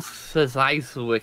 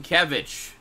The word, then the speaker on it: Sienkiewicz: Bill Szyszyk. How do you say that guy's name? Sienkiewicz.